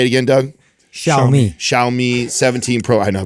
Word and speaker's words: Xiaomi: Xiaomi Xiome Pro 17 Pro Max. Xiaomi.